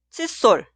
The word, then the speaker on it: 칫솔: Escribimos como la opción B, 칫솔 con 사이시옷. Es la combinación de 한자어 y 고유어, y cuando pronunciamos la palabra posterior sol suena en el sonido forzado sol.